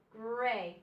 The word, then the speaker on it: gray: So gr in grin, A in pray. The A is long. The Y doesn't make a sound. Okay? Gray.